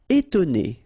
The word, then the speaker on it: étonner: Étonner. Okay, so first you've got this accent aigu, et, and then you've got to, and then né.